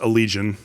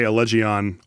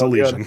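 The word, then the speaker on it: Allegaeon: It's It's pronounced Alleion. Allegian. Sure. Great. Allegian. Fantastic. I love I used to I used to go on other podcasts and I would say Allegion all the time until Riley corrected me that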